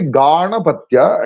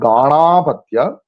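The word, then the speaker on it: Gāṇapatya: So when you derive the other word from this word Ganapati by the sutra Ditya Ditya Titya Patyuttara Padanyaha, then what happens is that the very first syllable ga, that becomes longer, ga, and at the end it becomes modified into tya. So it is actually Ganapatya and it is not Ganapatya.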